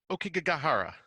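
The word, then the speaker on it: Aokigahara: I feel like you're better at pronouncing this shit than I am. The Okigahara.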